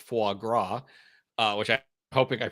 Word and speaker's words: foie gras: be honest and Rachel points out that it's pronounced foie gras uh which I'm hoping I pronounced the way